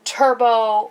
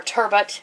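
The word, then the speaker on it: turbot: like halet or um Turbo or turbet if you pronounce it that way you're going to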